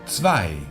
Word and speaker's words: Zwei: Aquí volvemos a ver el diptongo EI, que naturalmente se vuelve a pronunciar como AI. La Z se pronuncia como si fuese una TS. Tss, tss, como si llamases a alguien a lo lejos. Tss, tss. Y la W es como una V vibrante.